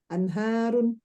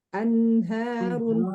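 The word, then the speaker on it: أَنْهَارُ: Nun itu memiliki sifat tawasud dan gunnah. Contohnya anharun, contohnya anharun. Umahat bacanya buru-buru anharun, anharun, harusnya anharun gitu ya.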